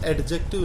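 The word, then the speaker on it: adjective: इसको एडजेक्टिव नहीं बोलते, एडजेक्टिव डी साइलेंट होता है।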